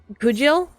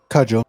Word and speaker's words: cudgel: The G is pronounced J, so it's pronounced cudgel? Cudgel? Cudgel. Cudgel, thank you. Cudgel, thank you. At least that's how I think it's pronounced.